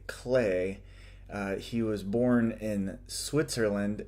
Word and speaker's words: Klee: for you there is KL e e and that you would think that would be pronounced Klee but it's more accurate perhaps to say clay he was born in